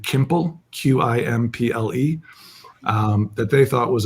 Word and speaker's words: Qimple: right, but quickly found that nobody could pronounce. People would say quimple, or it sounds like pimple, just all these kind of little hits at the name every day.